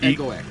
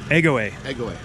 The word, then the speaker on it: Egoe: your space wisely so how do you pronounce it egg away egg away okay there you go